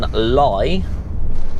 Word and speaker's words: Lye: But we are now in Lye. I believe it's pronounced Lye, L-Y-E.